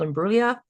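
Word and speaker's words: Imbruglia: I'm pretty sure it's called Imbulia.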